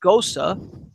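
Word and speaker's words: Gose: ghost of beer gos see it's but it's pronounced Gosa and it's basically a wheat beer that has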